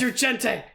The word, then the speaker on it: Insurgente: Insurgente.